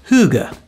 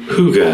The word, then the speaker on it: hygge: Hygge. Thank you, Google pronunciation. Hygge.